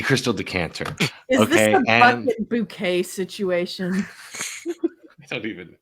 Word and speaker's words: Bucket: show The main character her name was bucket but she's like no it's bouquet it's bouquet cyle is how you say my name um but the the